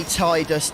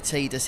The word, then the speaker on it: Tidus: It used to be Tidus Denim, but apparently Tidus is the correct pronunciation.